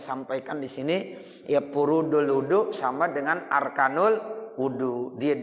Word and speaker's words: وضوء: Nih makanya saya sampaikan di sini ya furudul wudu sama dengan arkanul wudu. Dia juga isinya. Wahwa, dan dia wudu maksudnya ya bidomil wawi, wawunya didomakan, wawunya didomakan, wudu.